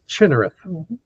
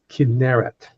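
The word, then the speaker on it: Kinneret: Most Americans mispronounce it as chinit, but it's kinerit because kinerit is the Hebrew word for a harp.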